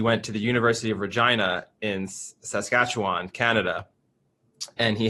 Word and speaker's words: Regina: Regina, but it is like... It is Regina fundamentally, but they say it Regina. It's unnecessarily provocative in the way they pronounce it.